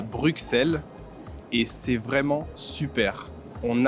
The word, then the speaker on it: Bruxelles: Et non, bien sûr, ça se dit Bruxelles. Et oui, on ne dit pas Bruxelles, on dit Bruxelles avec un S, un seul S.